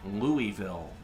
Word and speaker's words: Louisville: And there's always there's always one person in the comments who's like, "It's pronounced Louisville."